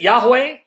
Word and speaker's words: Yahweh: You can pronounce it Yahweh.